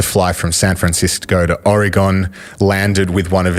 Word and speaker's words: Oregon: What did I say? Oregon. Like polygon.